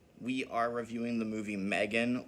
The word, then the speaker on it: M3GAN: are reviewing the movie Megan or M3 Gan as uh voiceover pronounces it because they decided to put a three instead of an e it's it's a whole